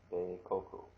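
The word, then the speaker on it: 米国: that you can see the way that it's pronounced be coku all right all righty and then the final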